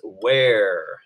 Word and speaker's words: ver: right now it is where everybody say it where remember that V always makes a dub you sound that long II make the a sound so again everybody where